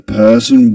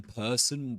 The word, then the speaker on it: person: So he doesn't pronounce it in person. He doesn't say person, as in American English. He says person, the person, wore.